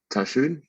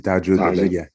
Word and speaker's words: Tahajjud: I was able to go to, like, I think I went to Tashud. Am I pronouncing that right? The night prayers. Oh, yeah, okay, the tahajjud. Yeah, you can say tahajjud.